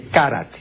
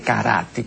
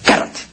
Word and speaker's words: karate: tome un curso de karate, no de karate, esa es una pronunciación bárbara, karate.